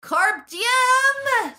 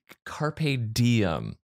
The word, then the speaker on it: carpe diem: michael beardy joined by my co-host reid bryce carp diem oh not even the proper pronunciation what carpe diem yes he's the fish yes indeed uh basic